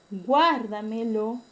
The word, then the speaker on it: guárdamelo: El término guárdamelo lleva el acento en la tras antepenúltima sílaba. Por lo tanto, es un término que se considera sobreesdrújula.